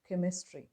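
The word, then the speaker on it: chemistry: For example, name of the subject കെമിസ്ട്രി. There it starts with the spelling combination CH, but here it has the pronunciation K.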